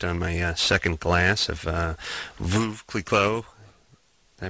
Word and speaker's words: Veuve Clicquot: GM hospitality tent on my second glass of Veuve Clicquot. Did I pronounce that right?